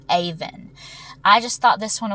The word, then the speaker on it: Aven: name for you this one is the name Aven I just thought this one was so pretty